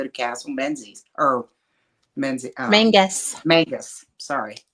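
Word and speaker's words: Menzies: Castle men or men Mangus Mangus sorry spelled menes it's spelled men pronounced their Mangus Mangus yes we got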